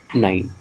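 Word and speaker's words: nein: You have to pronounce nine.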